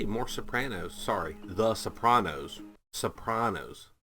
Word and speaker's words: Sopranos: Sopranos sorry The Sopranos Sopranos Pros not Panos it's like Nevada versus Nevada Sopranos no I I said it wrong again Sopranos with a